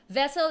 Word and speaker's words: Vesl: to our youtube channel vessel is spelled v-e-s-l right it's right thank you